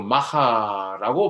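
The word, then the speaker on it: maja: 마야 부인이라고 부르기도 했습니다만 여기서 마이아라는 것은 사람의 이름이 아니고 스페인으로 마하라고 발음하고 끝내주는 여인 또는 멋진 여자라는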